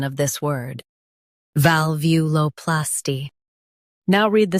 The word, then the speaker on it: valvuloplasty: valvuloplasty Now, read the syllables shown on the screen naturally. val view low plas-ty valvuloplasty Stress view and keep plas light.